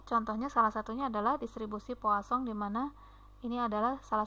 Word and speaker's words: Poisson: diperkenalkan oleh Simon Denis Poisson. Beliau ini adalah dari ilmuwan, salah satu matematikawan Prancis, ya. Ini membacanya bukan seperti membaca yang maknanya racun, ya, karena bahasa Prancis dibacanya Poisson.